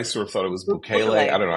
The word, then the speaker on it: Bukele: I thought it was Bukele. I don't know. Bukele, whatever. I don't know. Anyway, so he's in there, and as I say, if we said, hey, send him back, it rhymes with should ukulele.